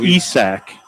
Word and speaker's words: Isak: So It's Isak in Sweden. Isaac here, Isak in Sweden.